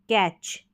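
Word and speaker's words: catch: तो यहाँ पर देखें, सी को हम क पढ़ते हैं, क ए यानी ए के लिए, क ए और च। कैच, क ए और च, कैच।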